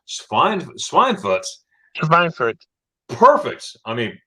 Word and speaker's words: Schweinfurt: Schweinfurt. Perfect. I mean, when we say Schweinfurt, the W's are V's, but she said it like a German Schweinfurt.